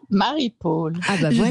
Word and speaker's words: Marie-Paule: Et bien de la même façon qu'on dit une épaule et non pas une épaule, on a eu ce prononce, on dit Marie Paul.